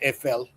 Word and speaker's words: Eiffel: It's pronounced EFL.